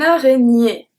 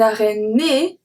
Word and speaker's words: araignée: Second word today, une araignée. Une araignée. Nier. Okay? I don't say une araignée, né. I say une araignée. Nier.